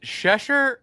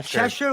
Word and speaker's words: Cheshire: Is it Shesher? Sheshire or Cheshire like Cheshure cat for God's sake.